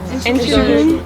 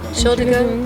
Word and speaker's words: Entschuldigung: Entschuldigung. Entschuldigung.